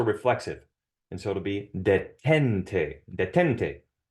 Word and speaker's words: detente: And so it'll be detente, detente. And since the emphasis on the second to last syllable, it does not need an accent mark.